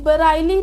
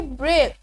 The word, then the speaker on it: Braille: इन, अब देखिए BRAILLE, हम इसे बराइली नहीं पढ़ेंगे, हम इसमें जो है आई उसका साउंड प्रोनाउंस नहीं करेंगे बिकॉज ऑफ साइलेंट लेटर, हम इसे पढ़ेंगे ब्रेल।